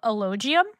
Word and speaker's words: Elogium: I do want to bring up, do you pronounce your new album Elogium?